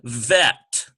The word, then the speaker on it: vet: We have bet and vet. Notice there's a slight difference. One has a B sound. Bet, the other has a V sound.